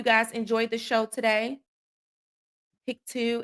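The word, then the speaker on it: Pictou: Pik two is pronounced picto. Picto.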